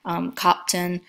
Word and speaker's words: Köppen: Sometimes it's pronounced Köppen instead of Köppen, but it just varies based on the source that you see.